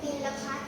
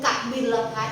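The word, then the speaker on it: กบิลพัสดุ์: ว่า เมือง อะไร กรุม บิลพัสดุ์ กรุม กบิลพัส ลูก ออก เสียง ก ไก่ ด้วย กบิลพัส กบิลพัส กบิลพัส ออก เสียง ตาม ภูมิ ชัด เจน กบิลพัส กบิลพัส กบิลพัส กพั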